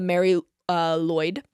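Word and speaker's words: Mari Lwyd: This is the Mary Lloyd. It's spelled Marilwyd.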